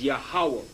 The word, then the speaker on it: Yahweh: That this seems to be the true Hebrew pronunciation of the divine essential name. Yah, Ha, Wa, and he has his name, the Yah, the Ha, the Wa, and the Ha, which is Yahweh.